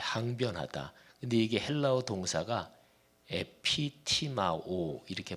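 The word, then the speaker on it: ἐπιτιμάω: 근데 이게 헬라어 동사가 에피티마오 이렇게 발음해.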